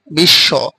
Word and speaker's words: বিশ্ব: এক কথা হচ্ছে শব্দের শেষেও বফলা থাকলে সেটা উচ্চারণ হবে না। সেটা উচ্চারিত না হয়ে যার সাথে বফলাটি যুক্ত থাকবে সেই বর্ণটাকে দৃপ্ত করে দেবে। যেমন এখানে বিশ্ব তার সাথে তালবসর সাথে বফলা রয়েছে।